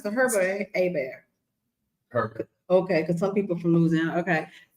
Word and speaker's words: Herbert: You pronounce the Herbert Abear.